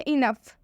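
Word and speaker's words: enough: एक और एग्जांपल है इनफ, इनफ में भी ओ यू के साथ आया हुआ है, इसलिए इनफ में भी ओ साइलेंट हो जाएगा, ओ का उच्चारण हम नहीं करेंगे।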